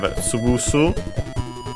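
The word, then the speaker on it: 潰す: Then we have tsubusu, also unaccented, which means to smash, to crush, to flatten, and also other extended meanings, but the fundamental one is to crush.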